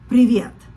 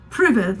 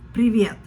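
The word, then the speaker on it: привет: Janna in Russian but he said it wrong it's privette that means hello in Russian but it's not private like pivot it's priviet and then he would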